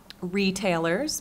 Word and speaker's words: retailers: notes about stress so for the word retailers placing that stress on the first syllable and examine stress on